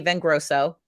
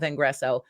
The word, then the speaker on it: Vengreso: rosen at vangreso okay everyone calls me viveka and every even scott this morning called the company vengroso everyone does you're not alone right so it is the name pronunciation vivica von rosen at vengreso we help b2b sales